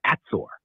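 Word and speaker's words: עצור: In Hebrew, stop is said as atzor, pronounced atzor.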